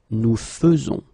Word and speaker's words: faisons: a surprise, but then the most difficult thing that you should keep in mind is the way you will pronounce it, because you don't pronounce it E, as normally you should, but you will pronounce it like E. Nous faisons, okay, it's really f, f, f, nous faisons, okay, you see it